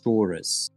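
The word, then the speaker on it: Searos: So it's spelled like S-E-A-R-O-S, and you pronounce it Thoris. Thoris.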